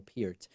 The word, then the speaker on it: Peart: I pronounce that right I used to always say Neil Peart and then someone told me David come on it's Neil Pierce I love Neil Pierce